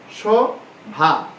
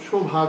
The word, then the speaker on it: সভা: আমরা সভা উচ্চারণ করব কিন্তু শোভা করবো না।